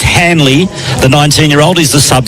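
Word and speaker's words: Hanily: It's pronounced it's spelled H A N I L Y, but it's pronounced Hanley the 19year-old is the sub for the Swans.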